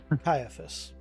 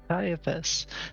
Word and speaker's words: Caiaphas: Caiaphas. Caiaphas.